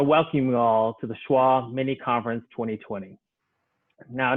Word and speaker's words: SCCHWA: of a particular word it's our pronunciation of the acronym for south carolina community health worker association so with that i want to welcome you all to the schwa mini conference 2020.